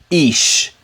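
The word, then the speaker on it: אִישׁ: alef alef here together this makes the sound ish ish ish ish ish man is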